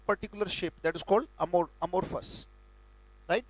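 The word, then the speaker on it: amorphous: उच्चारण में पहले लिखूंगा अमोर्फस, और मैं उम्मीद करूंगा मेरे साथ बोल रहे हैं आप.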